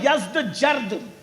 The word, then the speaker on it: یزدجرد: اس کا بیٹا تھا جس کا نام تھا یزدجرد. اس کو یزدگرد بھی کہتے ہیں ایرانی لب و لہجے میں، عربی میں یزدجرد کہتے ہیں.